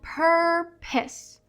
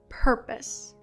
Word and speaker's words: purpose: Es que las letras E no suenan al final de una palabra. Entonces esta palabra se pronuncia purpose, purpose, purpose. Y el acento está en la primera sílaba, purpose.